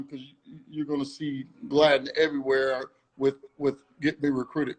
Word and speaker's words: Gladine: Don't call her Gladine. All right. Is how many? Look. Gladine. Yeah, Gladden. Okay. Gladden. I know it's spelled a little different, but yes, it's Gladden. I don't think I've ever had anyone say it right, but that's okay.